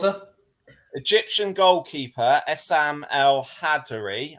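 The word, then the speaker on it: El-Hadary: Egyptian goalkeeper as Sam al-hadary I think I'm pronouncing that right I believe it's al-hadori al-hadori then uh became the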